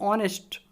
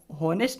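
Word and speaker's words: honest: तो देखिए ही इज एन ऑनेस्ट, हॉनेस्ट नहीं होता, ऑनेस्ट होता, ऑनेस्ट, ही इज एन ऑनेस्ट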